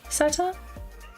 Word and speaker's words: satyr: I think it's a satyr? Probably saying that wrong. Hang on. Yes. Greek mythology, a satyr, also known as a actually. Satyr. Okay. Apparently, Google says that's how you pronounce it.